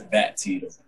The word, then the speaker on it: Battie: what it is but it's bat teeth that's how you pronounce the back teeth also